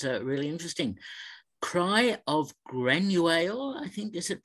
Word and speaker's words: Granuaile: Cry of Granuaile, I think, is it pronounced? I may have that wrong. Sounds like another rather intriguing documentary. Yeah, so Cry of Granuaile, not bad on the Irish there, Peter.